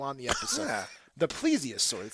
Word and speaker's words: Plesiosaur: Many speculated that the creature could be a Plesiosaur, a marine reptile that went extinct about 65.5 million years ago. Did I pronounce that name of that dinosaur correctly? You did not. It's Plesiosaur. Plesiosaur.